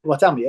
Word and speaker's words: Bartholomew: How do I pronounce his name, Paulie? Bartholomew, yeah. Bartholomew, yeah.